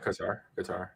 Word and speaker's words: Qatar: Can you take a guess at how many billions of dollars Qatar, and I believe I'm saying that close enough. You're saying it right. Qatar.